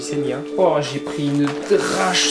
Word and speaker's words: Senja: Les amis, les amis, nous voilà sur l'île de Senia. Ça s'écrit Senja mais ça se dit Senia.